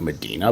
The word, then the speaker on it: Medina: It's spelled like Medina, but it's Ohio, so they don't say things right.